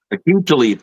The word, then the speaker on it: Talib: Rasheed Talib, the defensive back. Talib.